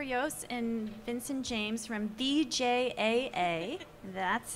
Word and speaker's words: VJAA: guys uh Jennifer Yos and Vincent James from bjaa that's how you say it and uh congratulations